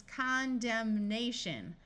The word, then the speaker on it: condemnation: and the suffix shun it becomes condemnation where the n Sound is clearly heard if you have GN